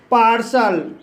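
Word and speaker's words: partial: जब किसी वर्ड के अंत में टी के बाद IAL आए तब टी का उच्चारण शा होता है। जैसे पार्सल, पार्सल शब्द के अंत में टी के बाद IAL आया है, इसलिए टी का उच्चारण शा हुआ है।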